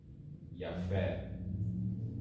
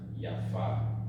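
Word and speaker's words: יפה: this one this one masculine one is franz yaffe and the feminine ones pronounced yaffa so here we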